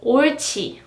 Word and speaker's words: 옳지: And also this, it means yes, good, right in English, and it is pronounced like 옳지, 옳지, 옳지. And it is because here is followed by 치읓, right? 옳지, 옳지.